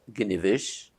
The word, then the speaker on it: Gniwisch: name and last name, and if you could spell it. IG: My name is Gniwisch, and the spelling is, for my first name, Gniwisch, G-N-I-W-I-S-C-H, for the last name.